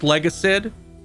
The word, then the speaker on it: Legacid: Hello, Legacid 1999. Is that how it's pronounced? Legacid, like legacy, but with Sid.